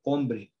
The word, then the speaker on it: hombre: Por ejemplo, hombre. Fíjense, la H no suena. Ese es otro caso, es otro fenómeno. Hay una letra, hay algo, hay alguien que existe, pero no suena, que es la H muda.